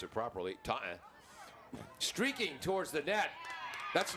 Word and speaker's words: Taunton: 5 draw control wins for the Bombardiers, 3 for Taunton, or we should pronounce it properly, Taunton.